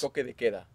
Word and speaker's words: toque de queda: Toque de queda.